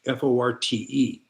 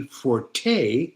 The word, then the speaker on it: forte: forte that we So, a lot of people mispronounce and put it in English as fort.